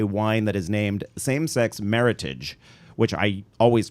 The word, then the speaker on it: Meritage: to remember it is meritage rhymes with heritage and so there was